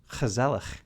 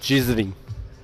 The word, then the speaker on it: gezellig: said, that they might even say it was gezellig.